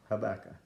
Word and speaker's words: Habakkuk: at the book of Habakkuk, Habakkuk, but it's pronounced Habakkuk.